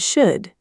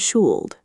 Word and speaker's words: should: So, it sounds like could and should, not cooled and shooled.